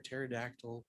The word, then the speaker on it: pterodactyl: can't you hear a pterodactyl going into the bathroom how come there's no pee he is silent as I say the p is silent yeah that was I